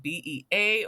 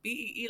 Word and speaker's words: Bee: Is it BEA or BEE? And I'm like, BEE, like bumblebees.